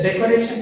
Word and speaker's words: decoration: The decoration has four syllables. One is decoration, ends in ION. So the stress falls on the second syllable from the end, right? So what is the second syllable in this word? Red. So red takes the stress.